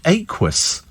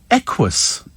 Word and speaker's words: Equus: Aquus. Equus. Fool, it's not Aquus, honestly.